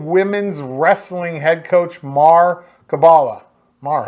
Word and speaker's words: Caballa: joined by EOU Women's Wrestling head coach Mhar Caballa. Mhar, how are you? Doing good. How are you? Did I say that right? Mhar Caballa, right? Yep, Mhar Caballa.